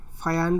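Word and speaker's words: Fajans: फायान rule या फाजान rule, जो भी फायान या फाजान रूल, जो भी आप कुछ भी बोलने वाले सबका अलग अलग प्रोनाउंसिएशन करते हैं, तो जनरली मैं फाजान रूल से इसको प्रोनाउंसिएशन करता हूँ।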